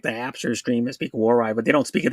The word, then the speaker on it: Waray: How you pronounce that? That's a dialect. Hi, Waray Vlogs.